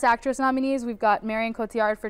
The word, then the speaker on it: Cotillard: Okay, and I let you pronounce Marion Cotillard, is that Marion Cotillard.